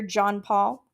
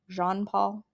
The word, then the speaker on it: Jean Paul: Are you well up in your John Paul? Jean Paul, I believe, is the better pronunciation of that fairly.